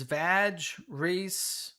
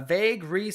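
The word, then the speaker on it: Vhagar: Duality says Vag Ree. I should probably pronounce that differently. Uh, vague. You're missing an H there. Duality. It's vague, not vag. Okay. uh vague Ree and Vena.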